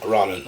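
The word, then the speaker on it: Rolling: Danny Rollin was a I said Roland it's Danny Rollin Rollin okay it's spelled roling but they Rollin yeah so Danny Rollin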